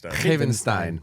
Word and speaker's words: Havenstein: Havenstein. Havenstein. But but yeah, that's right. Um, it's phonetic though. If you fell if you if you spell it out, Havstein gets you there.